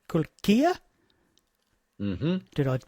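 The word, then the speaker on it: Kulkija: We saw you here in Adelaide on the tour promoting your previous album, and that was called Kulkia. Mm-hmm. Did I pronounce that correctly? Quite good, Kulkia.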